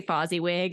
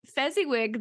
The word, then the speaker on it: Fezziwig: I keep wanting to say Fozziwig. It's really No, difficult it's all not right. to. I will So, mispronounce so many things just because my mind